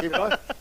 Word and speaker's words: Timbo: Oh, Timbo. It rhymes with Dumbo, doesn't it?